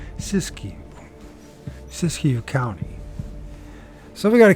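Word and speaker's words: Siskiyou: whatever happened to English sisu I did say it right tell be damn I said something freaking right sisu cisu County so we got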